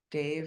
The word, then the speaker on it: Dev: Dev rhymes with save.